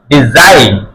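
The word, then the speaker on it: design: এন ডি ড ই ডি জ আই ন ডিজাইন ডিজাইন ডি জাইন যা তাকে একটা আমরা প্র্যাকশ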